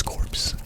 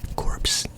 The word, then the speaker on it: Corps: Is that how you pronounce corpse? Corpse? It's Corps, right? It's Corps, I think.